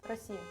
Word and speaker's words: Россия: How do you pronounce Russia? Россия.